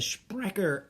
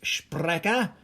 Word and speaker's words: Sprecher: The German word is Sprecher. I would think is a better German pronunciation of it. Or Sprecher.